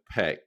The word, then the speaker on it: Paek: know so sure um I'm going with peek is that right got it how how